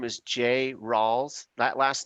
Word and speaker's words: Ralls: Yes, my name is Jay Rawls. That last name is spelled Rawls.